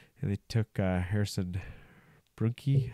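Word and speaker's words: Brunicke: And they took Harrison Brunke. How do you say it? Brunick. From Kamloops.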